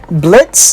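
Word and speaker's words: Blitzø: character characters we have blitz the o is silent luna moxie and millie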